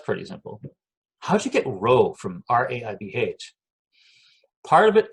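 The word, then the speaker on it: rabh: R-A-B-H, right? So that's ro. A-B-H is that sound, ro.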